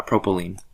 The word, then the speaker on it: propylene: like ethylene sep is propylene so it's like it rhymes with gasoline right so propylene ethylene